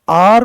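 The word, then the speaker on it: hour: तो आर में एच जो है साइलेंट है।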